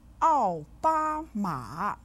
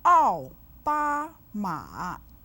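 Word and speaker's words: 奥巴马: 奥 with the 4th tone, 巴 with the 1st tone, and 马 with the 3rd tone.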